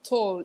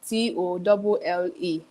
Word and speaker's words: Tolle: Then Toll is Tolle.